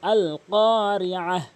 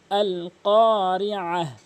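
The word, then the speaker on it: القارعة: এখানে শুধু কফটা টেনেছি এবং উচ্চারণটা করেছি জিহ্বার গোড়া থেকে উপরের তালুর সঙ্গে ক, এবং কফটা এক আলিফ টেনেছি জবরের বাম পাশে খালি আলিফ হওয়ার কারণে।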